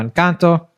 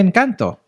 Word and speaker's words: Encanto: Technically, in Spanish, you pronounce A as A. So Encanto. Like, that's how you're supposed to say it.